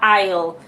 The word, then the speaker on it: aisle: Aisle é corredor, e você escreve Isley, mas você fala aisle.